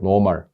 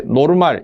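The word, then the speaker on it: normal: 붙여 줘요 노멀이라는 뜻이요 노멀 N rm 영어 발음 노멀 있데 노르말 일본식 발음으로 어 읽는 경우도 많습니다 여러분들 학교 다니실 때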